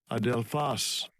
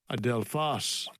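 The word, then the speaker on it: ἀδελφός: So it means adelphos. This is the pronunciation. Strong's G80, adelphos. Adelphos.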